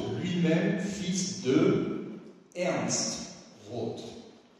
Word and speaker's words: Roth: Je suis euh le fils de Ernest, lui-même fils de Ernst Rot. On prononce à l'allemande puisque c'est un haut long.